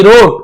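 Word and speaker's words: wrote: यहां पर भी देखिए डब्ल्यू के साथ यदि आर हो जैसे राइट होता है ना रॉन्ग होता है तो आप देखेंगे डब्ल्यू साइलेंट रहता है केवल रोट पढ़ेंगे वराइट या रोट नहीं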